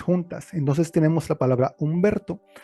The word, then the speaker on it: Humberto: Entonces tenemos la palabra Humberto. Como la H es muda, no se tiene que representar.